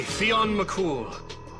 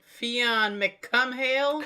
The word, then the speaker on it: Fionn Mac Cumhaill: Personally, I was relieved this part was voice acted because I certainly would not have pronounced his name that way. Oh, you mean Fon Mcumhale? Cumh is how it's actually written.